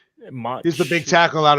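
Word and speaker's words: Mauch: Is that how you say his name? Ma? Or is it Mach? Do you say the CH? Mach.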